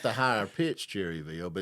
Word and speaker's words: Cherryville: He's like, "Well, you said Cherryville, and people around here mostly pronounce it Chur-ville."